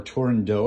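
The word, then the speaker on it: Turandot: on an opera called turin dot or torindo if you want to pronounce it in french even though it's not french at all um i'm gonna demonstrate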